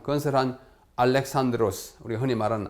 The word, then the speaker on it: 알렉산드로스: 제국의 제국을 참 건설한 알렉산드로스 흔히 말하 알렉산더 알렉산더도에 영어를 우리 식으로 읽은 것이기 때문에 요즘 교과서에는 알렉산드로스 아고 헬라 발음 그대로 비슷하게 적고 있습니다 그래서 알렉산드로스 아고 얘기합니다이